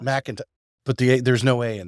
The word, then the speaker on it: McIntosh: I did pronounce that correctly, right? McIntosh. McIntosh.